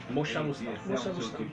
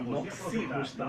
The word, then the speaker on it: Moxabustão: Moxabustão. Comunicação. Muita gente. Mas ela escreveu aqui Machobustão, mas é Moxobustão. Moxabustão. Tanto Moxabustão como Moxibustão, né? Mas o termo mais correto é Moxabustão.